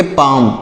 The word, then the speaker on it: palm: आगे बढ़ते हैं, अगला वर्ड देखिएगा PALM, तो इसे पढ़ेंगे पाम। PALM, यहाँ पर यल साइलेंट है, इसको पाल में नहीं पढ़ेंगे, पाम पढ़ा जाएगा।